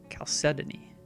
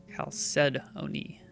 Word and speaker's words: chalcedony: So it's just the H is silent. Chalcedony. Chalcedony.